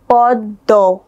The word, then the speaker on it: পদ্ম: এখানে পদ্ম দয়ের নিচে ম যুক্ত হয়েছে, উচ্চারণটা হবে পদ্ম।